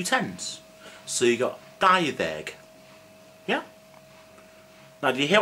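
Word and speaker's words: dau ddeg: I didn't say dau-deg because when previous word ends in a vowel, which is a, e, or, u, as you can probably see somewhere, the d in deg turns to the. So it's dau-ddeg. Okay?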